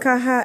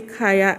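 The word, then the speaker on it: Khaya: Kaha ivorensis. It's actually Kaya ivorensis.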